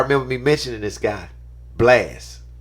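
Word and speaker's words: Blxst: tripping blast I'm a blast blast out because it's BLX St is how you spell it go check this dude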